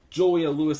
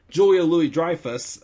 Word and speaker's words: Julia Louis-Dreyfus: which fun fact um julia lewis i'm sorry julia louis dreyfus especially it's always been julia louis-dreyfus i've mispronounced it this whole time i apologize never seen